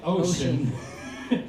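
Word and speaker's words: Oshun: And finally, which is funny because it's spelled O S H U N, which sounds like ocean and it happens to be the goddess of rivers, streams, and water.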